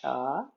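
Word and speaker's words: Chih: That third little word is pronounced cha like chuck wagon.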